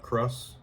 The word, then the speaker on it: Kraus: Kraus, not Kraus.